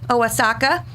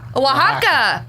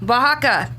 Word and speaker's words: Oaxaca: city of oh Oaxaca Mildred how do you pronounce that OHA casa oasaka anyways Oaxaca Oaxaca that was close no you aren't yeah the